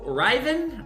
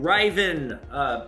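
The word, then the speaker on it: hryvnia: These are to Ryven. I think that's how it's pronounced. It starts with an H. It's like Hyrven.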